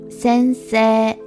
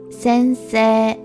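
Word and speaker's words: 先生: 先生、 The final character is e, but this character is not pronounced, and instead we pronounce the vowel sound in se as a long vowel sound. So it's 先生、 Lastly, we can create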